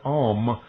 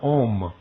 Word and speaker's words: Om: In India it was forbidden to pronounce the word Om or Om, the sacred name of the one deity manifested as Brahma, Vishnu, and Siva.